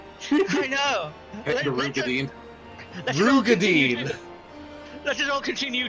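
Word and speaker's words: Roegadyn: Apparently it's Rugadine. Rugadine? Yeah. It's like it comes up at one point in the Dawn Trail MSQ, where the character pronounces it Rugadine.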